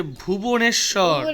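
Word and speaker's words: Bhubaneswar: এই উচ্চারণটা হচ্ছে ওডিশা। বাংলায় বলবো উড়িষ্যা। ওডিশা, ODISHA, ওডিশা। ওডিশার রাজধানী হচ্ছে ভুবনেশ্বর।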